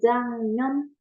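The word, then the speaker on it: 작년: nulisnya kan Jak nonyon Tapi bacanya Jang Non jangnyon kenapa nulisnya jangnyon karena di sini ada huruf g ya Yang kalau ketemu sama n cara ya berubah jadi Eng gitu Oke kalau nanti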